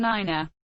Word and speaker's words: nine: differs from standard english being pronounced tree four five and niner the digit 3 is